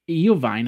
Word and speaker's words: Iovine: purchase was for Dr Dre and Jimmy I Iovine I believe that's how you pronounce his name to eventually promote the upcoming Apple eyewatch Jimmy Iovine you might have seen him on uh he